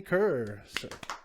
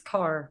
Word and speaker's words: Kerr: it's uh miss kerr i hope i pronounced your last name right is it ker it well uh it should be but it's car my family is david